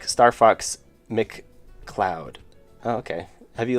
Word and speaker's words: McCloud: I always said it I always said it Ma M leod I just never read